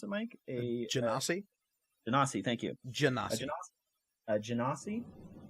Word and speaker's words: Genasi: They are a how do you pronounce it, Mike? A Genasi? Genasi, thank you.